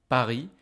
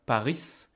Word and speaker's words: Paris: city of the country Pari be careful in French you don't pronounce the S you don't hear this s it's not Paris this is Pari then